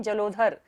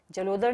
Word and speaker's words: जलोदर: उद्भूत भीषण जलोदर, यहाँ पर धा नहीं है, कई लोग इसको क्या पढ़ते हैं? जलोधर। जलोदर नहीं है, द है ये, जलोदर।